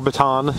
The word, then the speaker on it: Bataan: This is right where the East and West Bataan, or Bataan, depending on how you want to pronounce it, split is.